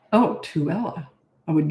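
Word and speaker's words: Tooele: else no never mind okay H oh it's pronounced tuella oh tuella I would not have guessed that tuella UT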